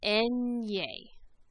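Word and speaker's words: eñe: repeat that after me the letter name then is pronounced en ye repeat that after me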